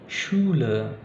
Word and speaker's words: Schule: Jadi cara bacanya Schule, ya. Jadi bukan S, bukan su, tapi shu, Schule, Schule, Fischen, Fischen, kemudian Tisch, Tisch, ya.